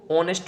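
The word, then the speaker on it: honest: रहा है नहीं भाई इसका प्रोनाउंस हिंदी में तो ऑनेस्ट हो रहा है ना ओ से तो इसलिए आर्टिकल ए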